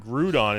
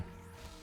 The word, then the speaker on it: Groudon: Now, Bon Bonjour Shioval was talking about the pronunciation of Groudon and they said that Grudon is pronounced like we like we pronounce the Ou in French and I under I understand that.